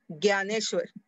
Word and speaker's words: ज्ञानेश्वर: समय यह लिखते हैं लेकिन हिंदी में उसका उच्चारण कैसे होता ग्य न्यानेश्वर उसके बदले में हिंदी में क्या कहेंगे ज्ञानेश्वर इस वैसे कुछ थोड़े